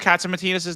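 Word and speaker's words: Catsimatidis: Kozi, how do you pronounce Katsimatidis' name last time again?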